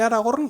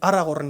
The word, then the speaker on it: Aragorn: Y fijaos que he conseguido decir Aragorn y no Aragorn, como aquellos que leímos el libro al principio y no sabíamos cómo se pronunciaba, ¿verdad? Aragorn, capital Zaragoza, pues lo mismo.